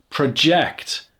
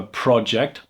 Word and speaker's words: project: so that's project but what about project when you change the stress I have a project pro project I'm projecting my voice project so so the stress is on the ja projecting my voice so